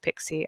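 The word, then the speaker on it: PKCE: key for code exchange, PKC, which is actually pronounced Pixie, I'm told on good authority.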